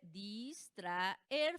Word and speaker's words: distraer: A, E son vocales que fuertes. ¿Qué dice la regla? Que cada una por su lado. Entonces, al separarse, distraer, forman 3 sílabas diferentes y la sílaba tónica recae en la última. Eso la vuelve una palabra ¿qué? Aguda, que termina en R. Palabra aguda que termina en R no puede llevar tilde. A eso me refiero con